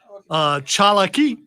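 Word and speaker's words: Tsalagi: Pronounce Chalaki, the Cherokee pronunciation of Cherokee.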